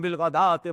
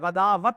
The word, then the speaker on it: بالغداة: مَعَ الَّذِينَ يَدْعُونَ رَبَّهُمْ بِالْغَدَاةِ وَالْعَشِيِّ، یہ غدات ہے، غداوت نہیں ہے، واو جو ہے یہاں پر بالکل اس کا کوئی تلفظ نہیں کیا جائے گا، یہ صرف لکھنے میں آ رہی، بِالْغَدَاةِ وَالْعَشِيِّ يُرِيدُونَ وَجْهَهُ،